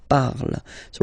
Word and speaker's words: parles: Phonetically, tu parles. So you've got the two first forms, you pronounce them the same way. You write them differently, of course, because you've got here, and then you've got and s, okay? But then phonetically, they are the same.